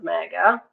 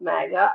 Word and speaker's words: Maga: That's an unfortunate word, MAGA, but it is pronounced magga.